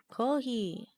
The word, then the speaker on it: コーヒー: ヒー Kohi or kohi.